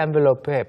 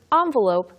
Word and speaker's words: envelope: 핵심 표현인 push the envelope의 발음부터 이야기를 좀 해보죠. Yeah, so actually the word envelope can be said two ways. Envelope, as I say it, and envelope. So envelope, envelope. They're both okay.